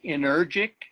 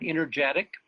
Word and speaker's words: energic: that's pronounced energic, not energetic.